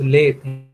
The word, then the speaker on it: lathe: See, the pronunciation is pronounced lathe, lathe, because I have come across with the students, they pronounce like lathe. It is lathe, and it is called